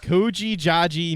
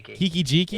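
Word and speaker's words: Kiki-Jiki: name right now okay kooi ji mirror breaker oh Kiki gy Kiki gy is how you say it that's the goblin you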